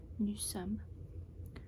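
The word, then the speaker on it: nous sommes: a she is so if you want to say we are you say new sum new some we are new some new some knew some kind of sounds like a nuisance some there's some we are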